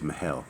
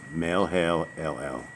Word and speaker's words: Mahalalel: I don't think it's Mahel. Mahalo? Melhelel. So Melhelel. It's Melhelel.